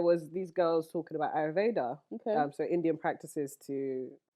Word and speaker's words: Ayurveda: So there was these girls talking about ayurveda. Okay. So Indian practices it's basically holistic medicine. That's how you say the word? Yeah, ayurveda. What were you saying? I've been saying ayurvedic. Girl, Ayurveda.